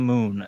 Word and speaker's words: Mune: Leilana Moon, and then, pronounced like moon, but spelled Mune.